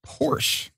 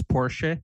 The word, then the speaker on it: Porsche: period correct he's worked with the likes of porsche uh 24 8 lemans i have no idea